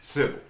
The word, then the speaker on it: Sybil: I think it's Sybil. Am I saying it right, Sybil? Yes, sir. Sybil.